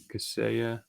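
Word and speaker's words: Kaseya: mentioned too much there yeah how do you spell that that's uh k-a-s k-a-s-e-y-e-a caseya and there's cassaya so caseya is just this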